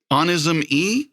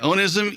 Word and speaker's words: Onism: aleene's band is and correct me if i if i say it wrong but is it honest oh no oh right yeah yeah ownism e is the name of her band and tonight we are